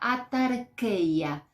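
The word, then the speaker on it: αὐτάρκεια: En el griego la palabra contentamiento, te la voy a pronunciar porque es fácil de hacerlo, es la palabra atarkeia, con K.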